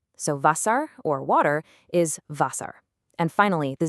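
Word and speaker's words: Wasser: Meanwhile, the W sounds like a V. So vasar or water is vasar.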